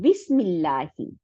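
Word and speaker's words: بسم الله: কিন্তু কিছু কিছু জায়গায়, যেমন বিসমিল্লাহি, এই যে 20 বার পরে একটা হামজাতুল ওয়াসল, কারণ ইসমি আমরা পড়ছি না, ইসমি, এই যে উপরে দেখেন এখানে ইসমুন নেই, হ্যাঁ।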